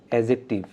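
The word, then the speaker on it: adjective: উচ্চারণটা হবে এডজেক্টিভ।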